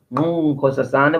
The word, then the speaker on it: Nkosazana: Yes, my name is actually, you pronounce it Nkosazana with a click.